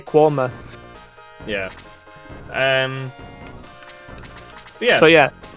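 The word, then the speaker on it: Quernmore: where we're from and if anyone can uh enunciate q u e r n m o r e correctly congratulations you know how to say quoma yeah um yeah so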